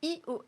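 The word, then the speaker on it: /e/OS: Hein, il y a aussi iOS, ça s'écrit EOS, et là c'est un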